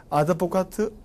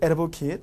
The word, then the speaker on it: advocate: 그래서 우리 아드보카트, 옹호하다, 에르보킷. 영어 발음 에르보킷, 옹호하다.